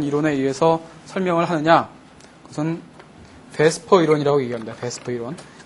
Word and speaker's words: VSEPR: 그것은 베스퍼 이론이라고 얘기합니다. 베스퍼 이론. 발음은 VSEPR인데 그냥 베스퍼라고 읽어요. 그렇게 읽는데요. 네. E하고 P하고 바꿔서 베스퍼 이론.